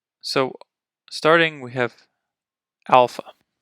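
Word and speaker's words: ἄλφα: so starting we have Alpha pronounce ah very similar to the English a ah Alpha next vetta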